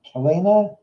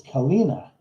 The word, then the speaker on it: Kina: your name Kel Kena it could be Kena k k k k ow that hurt what the was that about it's Kina ah I'm sorry Kina